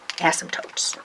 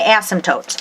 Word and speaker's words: asymptotes: then draw your asymptotes draw asymptotes silent P asymptotes okay so to draw